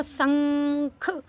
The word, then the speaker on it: शंख: उच्चारण क्या हो गया इस तरीके से बोलेंगे इसको शंख अगर इसके ऊपर बिंदी ना लगे ये बिंदी की ही सारी कलाकारी है ये बिंदी की ही सारी माया है बिंदी लगते ही इसका उच्चारण बदल जाता है अगर सादा पढ़ेंगे तो